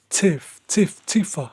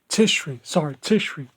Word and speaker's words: Tishri: This this ha- this happy celebration began on the 15th day of Tifa. I think that's how you say it. Excuse me for my reading. Tishri.